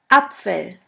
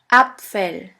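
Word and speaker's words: Apfel: the word far your first German word is upell upell which means Apple let's continue with b b which is pronounced like the b in the word banana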